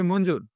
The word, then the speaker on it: মঞ্জুর: সঠিক উচ্চারণ পাবে না এখানে কিন্তু সঠিক উচ্চারণ হবে মঞ্জুর কিন্তু তোমাদের আমরা বাংলা সরি ইংলিশ প্লেইং এ মঞ্জুর বলেই অবদান জানাচ্ছি ঠিক